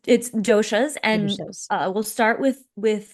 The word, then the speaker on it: dosha: do you pronounce it? You tell us. Yes, so it's doshas, and Doshas.